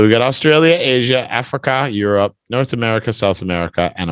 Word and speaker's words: Europe: Europe. Just 2 syllables. Europe.